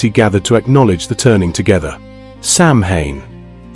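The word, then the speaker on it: Samhain: Sam Hayne, the name is Irish, pronounced roughly sow in, the mh in Irish, producing a w sound.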